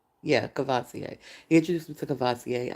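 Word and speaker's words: Courvoisier: Cavasier.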